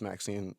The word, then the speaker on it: MXene: it's MX yes um like jeans or whatever which is pronounced Maxine which is fun but